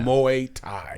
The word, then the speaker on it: Muay Thai: you how do you pronounce it again M Muay Thai mu Tha Muay Tha Muay Thai m u a y right yeah t h a i okay Muay Thai yeah okay so what you what did you